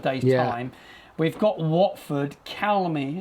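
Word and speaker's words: Kelme: We've got Watford, Calmy. Is it pronounced Calmy? Calmy, yeah.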